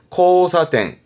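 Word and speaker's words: 交差点: 교차로 의미했는데 발음은 코사땡, 코사땡.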